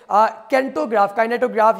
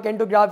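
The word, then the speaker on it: Kinetograph: हालांकि लॉमेयर भाइयों से कबल अमेरिका के थॉमस एडिसन ने सन 1891 में काइनेटोग्राफ या कैंटोग्राफ इसको प्रोनाउंस किया जाता है, इस मशीन को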